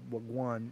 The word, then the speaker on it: wagwan: Wagwan?